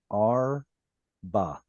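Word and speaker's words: ארבע: When you see a short vowel like this patach, make sure it's a silent shba. Arba.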